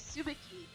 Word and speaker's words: Tsubaki: And the character I decided to do, his name is Tsubaki. Now I know a lot of people are going to pronounce it the other way around, but that is how the anime pronounces it.